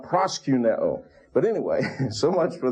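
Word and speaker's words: προσκυνέω: But that omicron means little o. Micron means little. Omicron, little o, and it's pronounced o. And if you go to Greece today, they will pronounce that letter just exactly like they pronounce the omega. And so that's why I say proskuneo, not proskuneo.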